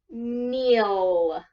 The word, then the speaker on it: kneel: kneeling good so Neal Neal begins with a K even though the first time we hear is an N okay so you got